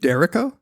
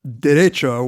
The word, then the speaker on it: derecho: Derrico? Don't know. I've only read it. Okay, because it's derecho, which is the Spanish word for straight.